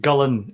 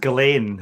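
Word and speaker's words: Gullane: Is that like the way that Gullen is called Gillane in Edinburgh?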